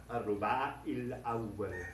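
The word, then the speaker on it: الربع الأول: But the preposition changes this vowel sound to an E, a long E in English. It would correspond to al-ruba il-awwal, al-ruba il-awwal, the first, in the first quarter.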